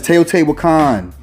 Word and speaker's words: Teotihuacan: It's Teotihuacan. I'm half Puerto Rican. I know how to pronounce a lot of words in Spanish.